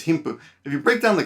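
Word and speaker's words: 貧富: us as wealth and poverty and it says him puh if you break down the kanji right team is often pronounced him or being or my sushi which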